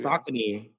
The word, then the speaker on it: Saucony: Saucony. That's how you pronounce it, right?